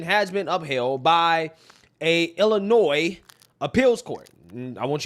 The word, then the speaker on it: Illinois: I said Illinois, not Illinois, right?